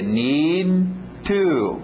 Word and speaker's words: need to: Olha aí nosso D, engolindo esse D, need to, ok? Para não chocar aí com o T, need to eat. Olha, vamos ver as frases então.